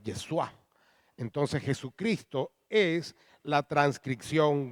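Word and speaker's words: ישוע: Algunos lo pronuncian Yeshua, pero es Yeshua.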